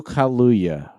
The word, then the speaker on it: Kaluuya: uh helena zengel who looks like go ahead go keep going jesus christ all right uh best supporting actor daniel kaluuya daddy pronounced that right yes danica for judas and